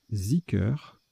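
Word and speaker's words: zikr: Alors, ça se prononce Ziker, ok, Ziker, et ça s'écrit D-H-I-K-R ou Z-I-K-R.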